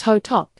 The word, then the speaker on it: Hotteok: one dessert worth trying what is hot hot pronounced hot is a popular Korean street food known for